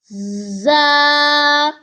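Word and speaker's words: ز: This is za. Kindly read after me. Za. Za comes from tip of the tongue, touches the front lower teeth to pronounce za.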